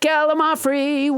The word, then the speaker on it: gallimaufry: Let's never forget Gallimaufry, which I pronounced wrong until nobody James Hyder corrected me.